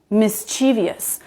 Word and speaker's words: mischievous: Mischievous. But remember, no, that's not it. That's wrong. It's just 3 syllables. It's mischievous.